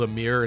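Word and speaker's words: Aymr: obviously uh edelgard's ax I think it's called a mirror in Smash Bros but it's not spelled Amir which is a really weird the pronunciation Quirk like somebody messed up somewhere um so I tend to call it imer maybe that's a weird way to call it too I don't know but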